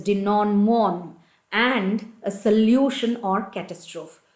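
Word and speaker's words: denouement: denom de non okay that is how you have to pronounce it it is de non mon and a solution or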